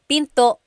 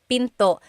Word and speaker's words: pinto: And remember, don't forget the glottle stop. Don't forget to stop the sound at the end. That's called a glottle stop. Pinto. Pinto.